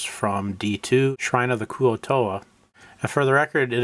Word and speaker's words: Kuo-toa: This middle portion uses the Adventures and Wandering Monster tables from D2, Shrine of the Kuo-toa. And for the record, it is pronounced Kuo-toa.